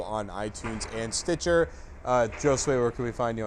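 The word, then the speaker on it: Josue: like it's Jore well no s w a y is sort of my way of phonetically pronouncing my name Joe sway it's pretty ball you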